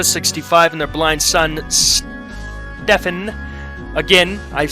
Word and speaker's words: Stefan: and their blind son stefan again i've said it if they wanted me to pronounce it steven they would have spelt it with a v so stefan 35 after